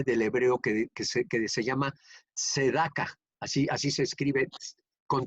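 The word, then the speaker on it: צדקה: Primero les voy a decir que la palabra justicia viene del hebreo que se llama tzedaka. Así se escribe con T, T-S-E-D-A-K, tzedaka.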